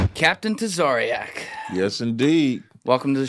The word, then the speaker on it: Tazaryach: They usually they usually say Tariak. There's no E in my name. It's just Tarak.